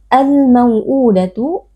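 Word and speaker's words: الْمَوْءُودَةُ: Al-mau'udatu alif lam al-qamariyah, karena ada alif lam yang bertemu dengan salah satu huruf qamariyah yaitu huruf mim. Cara membacanya alif lam dibaca dengan izhar atau dengan jelas.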